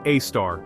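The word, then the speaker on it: Sagittarius A*: It is called Sagittarius A, pronounced A-star.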